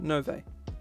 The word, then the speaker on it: Nove: No, it's pronounced Nove. We'll just have a pronunciation guide called Nove.